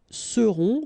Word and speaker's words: seront: Ils seront. Final T not pronounced. And then you've got this nasal.